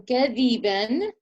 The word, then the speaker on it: كذبا: غثاء, and then كذبا with a smile, and ظانين, you create a heavier sound with a rounder mouth.